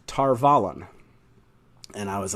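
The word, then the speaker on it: Tar Valon: okay here we go everyone told me that the correct pronunciation was tar vallen and i was like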